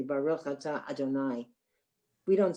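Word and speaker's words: אֲדֹנָי: So, but it's pronounced Baruch atah Adonai because that's like when you're really praying.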